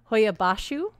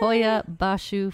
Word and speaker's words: Hoia Baciu: She's been sitting here practicing because, you know, she likes to get the pronunciations down right. So we've been practicing Hoia Baciu. That's our episode. Yay. Hoia Baciu Forest.